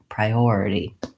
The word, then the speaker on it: priority: before the or and so that's gonna be my long syllable so I have pry already typically in a longer word the unstressed syllables take about as much time as a stressed syllable so I want to have a bob about a short long short short priority then I of course